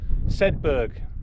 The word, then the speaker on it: Sedbergh: I think I'll tell you pronounce it. We should have worked that out first. Sedbergh.